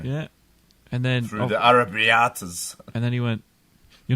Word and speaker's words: arrabbiata: Yeah, you're not rolling your R though. You got to roll your R's like this, like. Grrr. Can you do that? Arrabbiata. Oh, that's better.